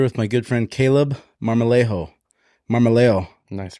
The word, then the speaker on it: Marmolejo: Today, I'm here with my good friend Caleb Marmolejo. Nice pronunciation. Did I say it right? That's it. All right. Yeah, you could roll the R if you want, but I'll leave that up to you. Marmolejo.